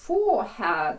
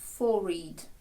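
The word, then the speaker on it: forehead: тут слід звернути увагу що є ще одна вимова цього слова переважно зараз сучасні англійські кажуть forehad Ну бо foread складається з двох слів for headad але може зустрітися вами старіший варіант fored fored де з'їдається тож будьте готові на обидва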